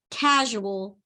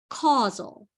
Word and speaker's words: causal: it to you sometimes you often read this as the word casual by accident casual is spelled this way if you reverse the U and the S you get casual and that's not what this says this says causal so which one is